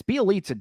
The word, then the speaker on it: Bjelica: those guys, even Bjelica, except Bjelica, and it's Bjelica. Damn it, not Bjelica. I know. I'm sorry. I always mispronounce his name.